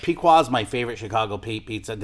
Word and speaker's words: Pequod's: Like Pequod's my favorite Chicago pizza.